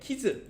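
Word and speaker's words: 傷: 구슬에 키즈 이게요. 우리 뭐 이런 말 하잖아요. 키스 난다 이런 말 하죠. 근데 그 키스가 일본 말이에요. 키스가 아니고 정확한 발음은 키즈입니다.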